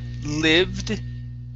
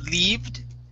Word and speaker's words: lived: Instead of lived, it is lived. Lived. Okay, one more time. Give me a D there at the end. You're saying lived. Okay, with a D where you're touching your tongue to your teeth.